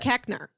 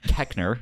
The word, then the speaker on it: Koechner: David Koechner.